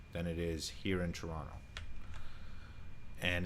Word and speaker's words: Toronto: beginning of the video it's actually pronounced toronto the last t is silent that's how you know